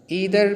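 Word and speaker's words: either: या ईदर भी हम इसको पढ़ सकते हैं और आइदर भी पढ़ सकते हैं, दोनों यानी जो प्रोनाउंसिएशन है ये फेमस है, आप दोनों पढ़ सकते हैं।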